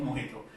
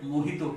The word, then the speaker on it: mojito: And that's how the word mojito came into it. It's a Spanish word, that's why J is not pronounced as J, it's pronounced H, that's why it's called mojito, not mojito.